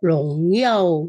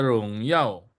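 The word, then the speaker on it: 荣耀: Nah, 他的荣耀. 他的荣耀. Kemuliaannya. Nah, yao-nya ini jangan 2 kali.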